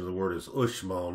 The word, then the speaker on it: Uxmal: as you might have already gathered the correct pronunciation of the word is ushmall not ugh small what i've visited small in 1970 they were